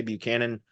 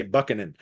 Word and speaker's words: Buchanan: that buckin uh looks like it should be pronounced Buchanan but if you say Buchanan around here in this area the people look